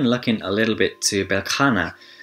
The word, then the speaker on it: Beltane: And we're even looking a little bit to Belkana, that's how I know it to be pronounced, but it looks like it's Beltane, but we're even kind